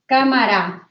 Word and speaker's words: cámara: Mi cámara. Cámara has an accent on the letter A.